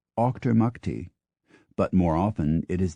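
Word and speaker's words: Auchtermuchty: Kent pronounced meam or a u c h t r m u c HT y a Scottish town pronounced Octor MTI but more often it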